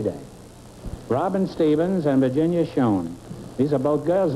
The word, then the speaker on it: Schoen: Yes, Is that the way you pronounce it, Schoen?